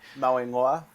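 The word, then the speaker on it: Mauigoa: Steve, can you pronounce the last name for me? Mawingwa.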